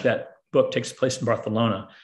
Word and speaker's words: Barcelona: book takes place in barcelona barcelona um they pronounce it with the th when you're there so